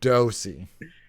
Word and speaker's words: Dosey: And Ben, he put in a pronunciation this week. So when you don't listen back later, it's Dosey.